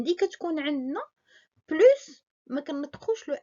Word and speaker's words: plus: deux acteurs x donc on ne prononce pas le s de plus devant un adjectif ou un adverbe exemple amine est plus grand que sa soeur